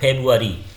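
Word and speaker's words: February: और यहाँ पर फेब्रुअरी, यहाँ जो आर है वो क्या होता है, साइलेंट होता है।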